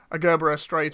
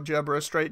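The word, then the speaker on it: Gerbera Straight: And say, like, for instance, you put a Gerbera Strait or Gerbera Strait, depending on how you want to pronounce it.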